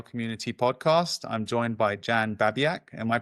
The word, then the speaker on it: Babiak: I'm joined by Jan Babiaak. Am I pronouncing that correctly?